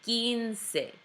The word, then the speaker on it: quince: Do not say quince, say quince. Pretend it's a K. Quince. Again, making sure you're saying all of the E's at the end.